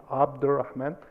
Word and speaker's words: Abdelrahman: I'm Abdelrahman, so the correct pronunciation is Abdelrahman. It's kind of hard, but just call me, it's fine.